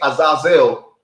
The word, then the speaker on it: Azazel: Israel his name is if you say Azazel in Hebrew that's that's that's that's that's how you say his name and that's how you